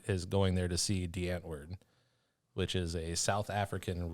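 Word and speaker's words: Die Antwoord: not a v there it's definitely a w but it's spelled or it's pronounced with a v whatever yeah um so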